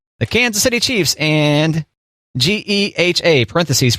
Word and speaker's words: GEHA: Okay, so about Yeehaw. Yeehaw, parentheses, Government Employees Health Association Incorporated. Pronounced GEHA, close parentheses.